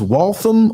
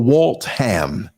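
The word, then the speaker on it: Waltham: from where I lived called either you it was walam or Walt ham depending on how you pronounced it and by Liberty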